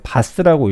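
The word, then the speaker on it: BaaS: 그 다음에 그 직후 기업을 대상으로 블록체인 기반 클라우드 서비스, 이제 바스라고 읽습니다.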